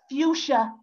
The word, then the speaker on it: fuchsia: Fuchsia. Fuchsia rhymes with futile.